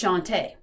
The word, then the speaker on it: Shantae: It's Shantae.